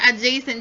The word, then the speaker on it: adjacent: Opposite over adjacent. The D is silent. Adjacent.